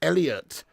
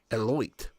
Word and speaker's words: Elliott: Very much indeed there for Elliott. Thank you very much. Or the way it's spelled, I think it's more like Eloit. Eloir. You know what I mean? I don't know. No, it's Elliot, mate.